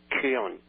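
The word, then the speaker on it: Köln: pronounced in English in Cologne in German is pronounced Kon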